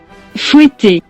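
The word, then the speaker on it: fouetté: 발레에서 한쪽 발끝으로 몸을 지탱하고 서서 다른 쪽 다리를 말채찍 휘두르듯 접었다 폈다를 반복하며 회전하는 동작을 푸에테라고 하는데 정확한 발음은 fouetter, 푸에테를 감상할 수 있는 대표적인 작품으로는 백조의 호수에서 산막 오딜의 32회전 푸에테와 돈키호테 산막에서 키트리의 32회전 푸에테가 있답니다.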